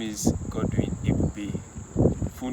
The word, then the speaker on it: Ebube: Like, the funniest, someone called me Egube, like Egube, like literally. How did you miss the B?